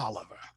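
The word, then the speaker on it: Taliaferro: i even know the white man where my name comes from his name was james toliver but they spelled it t-a-l-i-f-e-r-r-o tala but it's pronounced oliver right wow that's fascinating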